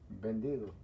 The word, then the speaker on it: vendido: Vendido. Vendido. Oh. Vendido. Bendito. Yeah. But it sounds like a B. It sounds like bandido, but no. It's with a V. V-E-N-D.